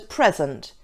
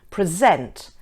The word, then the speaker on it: present: If the word is being used as a noun, the stress is on the first syllable, such as present, export, suspect.